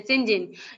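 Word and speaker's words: St John: Fortunately the reverse sibling, ये क्या है जी, एसटी जॉन्स, ठीक है, जिसे हम कहते हैं सिंजिन, जिसे प्रोनाउंस करते हैं सिंजिन, Diana and Mary take her into their home at more house.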